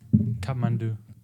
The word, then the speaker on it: Kathmandu: How do you pronounce this? Kathmandu.